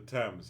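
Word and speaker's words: Thames: moon in person will remember that sorry I'll pronounce it the temps yes it it is pronounced the temp right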